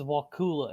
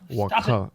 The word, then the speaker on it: Ocala: Everybody says Ocala, and it's like no. Ocala.